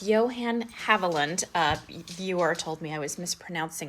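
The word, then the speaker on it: Johann Haviland: this pattern which is so so pretty it's Johan havland a viewer told me I was mispronouncing it which I appreciate it is such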